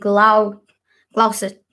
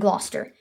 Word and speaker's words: Gloucester: scene 1 enter the King Bedford and and Glau Gossett love Chester King Klaus Esther I'm gonna need